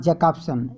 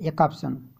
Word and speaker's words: Jakobson: It is pronounced as Jakobson, not Jacobson. Jakobson.